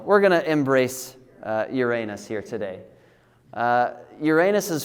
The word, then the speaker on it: Uranus: There are different pronunciations of Uranus. And uh I hear most people call it Uranus, which is fine. Uh, but if you go by the Greek, um, or the I suppose the Roman pronunciation of it actually is Uranus. Um, so that's the way I'm going to say it.